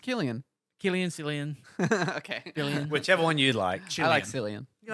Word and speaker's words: Cillian: It's pronounced Killian.